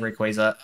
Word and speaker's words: Rayquaza: me but Rayquaza does because I've always said Rayquaza um it's also the correct pronunciation and Rio Nicholas is also there I